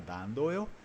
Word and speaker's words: Dandolo: Ele fala mi son Enrico Dandolo, e ele fala com sotaque, com a típica pronúncia veneziana, Dandolo.